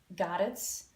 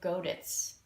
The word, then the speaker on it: godet: to put in the I looked it up goddess or godus two possible pronunciations neither of which was